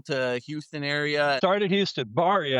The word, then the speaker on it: Berry: to talk about was Berry Financial Group, and I wasn't Yes. really familiar with them. They're more local to Houston area. Started Houston. Barry, actually. Bar's how you say it. It's a family name.